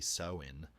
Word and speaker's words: Samhain: Samhain, pronounced roughly Samhain, was not merely a festival of harvest.